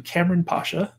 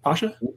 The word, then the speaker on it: Kamran Pasha: question him about so everyone say hello to Cameron Pasha did I pronounce that right Pasha you did that and I'm excited to be